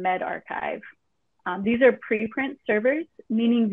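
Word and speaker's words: medRxiv: And we've also identified that these are pronounced bioarchive and medarchive.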